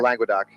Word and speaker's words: Languedoc: How do you pronounce it? Languedoc? Languedoc.